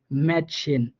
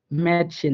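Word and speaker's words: Mädchen: হ্যাঁ, আ উমলাউটের উচ্চারণ হবে এর মতো করে, যেমন ম্যাটশেন ম্যাটশেন, দেখেন এখানে কিন্তু একটা আ উমলাউট রয়েছে, হ্যাঁ এম এর পরে একটা আমরা আ উমলাউট পাইছি যেটার উচ্চারণ হবে এর মতো করে, এই জন্য এখানে হয়েছে ম্যাটশেন ম্যাটশেন, অর্থাৎ এর মতো করে উচ্চারণ হয়েছে।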